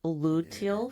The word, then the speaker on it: luteal: the luteal phase. Is that how Yes, you pronounce it?